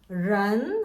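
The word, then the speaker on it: 人: 사람이라는 뜻을 가지고 있고 런 하고 읽습니다. 우리가 사람인이라고 하는데 실제 발음은 런이거든요.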